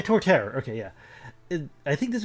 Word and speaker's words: Torterra: that as well um it's I know it's like toward Tara yeah Torterra okay yeah I think